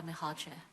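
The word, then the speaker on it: Mihalcea: How do you say Rada's last name? Rada Mihalche? Mihalche. Yeah.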